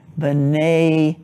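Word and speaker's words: בני: But to show that it's sons of Israel, it's in a word pair, and the im sound of the plural changes to a, like b'nei Yisrael.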